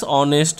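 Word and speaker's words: honest: তারপরে বলেছে দেখো mister Sen is dash অনেস্ট ম্যান, এখানে এইচ দিয়ে শুরু হলেও উচ্চারণটা কিন্তু হবে অনেস্ট, ও দিয়ে উচ্চারণ হচ্ছে তাহলে ও হচ্ছে ভাবেল, সেই জন্য আমরা এখানে লিখব এ এন এন অ্যান অনেস্ট ম্যান।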